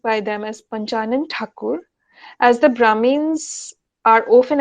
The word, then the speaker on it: Thakur: family name so they referred to him as mr thakur and unable to articulate the unfamiliar name pronounced it as tagore the family prospered its